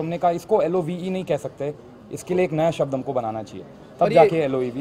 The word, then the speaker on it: Loev: The main thing is, I think you spell it anyhow, it's love at the end of the day.